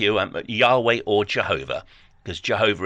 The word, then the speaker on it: Jehovah: Yahweh or Jehovah, because Jehovah is how we pronounce it in English.